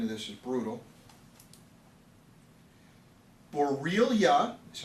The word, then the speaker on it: Borrelia: It's a bacterial illness that is spread by, okay, and I'm going to spell it because the spelling of this is brutal. Borrelia, that's how you say it, B-O-R-R-E-L-I-A, B-O-R-R-E-L-I-A, Borrelia burgdorferi, one word, burgdorferi.